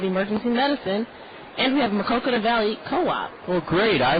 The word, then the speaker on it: Maquoketa: Harry Carey tried to pronounce it once and said Maquoketa or something.